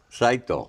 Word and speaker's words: Saito: Yeah, Saito? Saito. Saito, yeah, that's Saito. Japanese, yep.